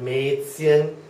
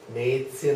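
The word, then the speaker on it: Mädchen: German e which is a a uh and it's spelled a word like Maan Maan I hope you can see that and I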